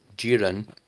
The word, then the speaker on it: Jiren: do that to Jiren because Jiren, sorry, that's how you pronounce it, was resisting him.